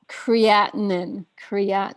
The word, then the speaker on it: creatinine: How do you pronounce that word? Yeah, creatinine.